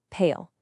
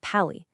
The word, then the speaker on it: pale: A rule number two, the E is silent, so we blend it. P A L pale. See, it's not pi, it's pale.